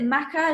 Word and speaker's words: maca: So any herb recommendations, and what's your opinion on, is it maca?